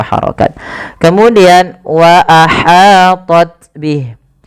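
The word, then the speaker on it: وأحاطت: Kemudian wa ahatat bih. Hati-hati dalam melafalkan ha kecil, jangan dibaca wa ahatat bih, tapi wa ahatat ya.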